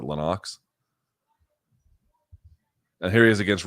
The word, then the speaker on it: Lennox: then against Lenox Lewis it's supposed to be Lennox but apparently pronounces it Lenox and here he is